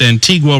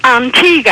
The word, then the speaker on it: Antigua: Now, ma'am, you say that I pronounced Antigua wrong? Well, yes, it's Antigua, actually, and I'm sure you have a lot of West Indian listeners.